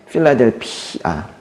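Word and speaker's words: Φιλαδέλφεια: 빌라델비아 원어 발음은 영어랑 매우 비슷합니다. 필라델피아예요. 뭐라고요? 끝에 P를 좀 길게 해야 돼요. 필라델피아.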